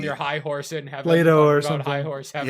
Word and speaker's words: Plato: Plato or something. High horse heaven. Yeah, Plato. Sure. It's like Play-Doh, but it's spelled like the stuff that you mold with your hands.